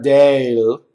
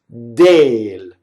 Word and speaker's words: del: So del is not dale, it's dale. De, you stay.